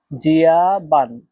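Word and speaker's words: 加班: এখানে দেখেন এই শব্দটাতে চাইনিজের 1 নম্বর টোন ব্যবহার করা হয়েছে। আর অবশ্যই ইতিমধ্যে আপনি শিখে গেছেন চাইনিজের 1 নম্বর টোন কিভাবে উচ্চারণ করতে হয়। 1 নম্বর টোন উচ্চারণ নিয়ম হচ্ছে সোজা লম্বাভাবে, এটা ডাইরেক্ট লম্বাভাবে একটু টেনে বলতে হয়।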